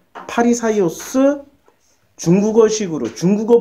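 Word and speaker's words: Φαρισαῖος: 예 그 10 그 헬라어 으로 발음하면 파리 사이오스 중국어 식으로 중국어 발음으로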